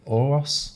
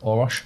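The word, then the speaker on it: Orosz: And also, just while you were talking, I did search the Pragmatic Engineer by Gergely Oros. That's the fella. Orosh. Yeah. I butchered his name there.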